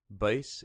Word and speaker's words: Buys: Boyce is spelled B-U-Y-S.